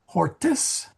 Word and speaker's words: hortis: In hortis Italiae, in the gardens of Italy. So singular is an O and plural is an IS. Horto ablativus singularis est. Hortis, hortis, I gotta make that a long I.